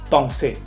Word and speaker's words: pensée: Pues no, recuerden que la EN en una misma sílaba se va a pronunciar como una ON. Por ejemplo, pensée.